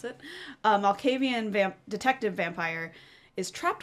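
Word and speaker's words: Malkavian: Um, in addition to that, um, Fabian, Amala, Al Malavean, Malcavian, Malcavian, that's how you pronounce it. Malcavian vamp detective vampire is trapped within your blood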